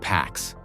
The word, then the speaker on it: P4X: He chooses P4X, pronounced PAX, the Latin word for peace.